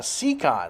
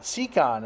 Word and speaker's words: Siekon: I'll talk about those more later but uh secon secon is how you pronounce the brand name they are smaller than